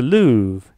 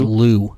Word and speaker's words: Louvre: The Louvre. The Louvre Museum in France, in Paris. I didn't hear Louvre. I heard Lou. I guess the Louvre. Is it Lou? Is it the Louvre or the Lou?